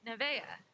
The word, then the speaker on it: Nevaeh: And she's like, Nevaeh. It's heaven backwards.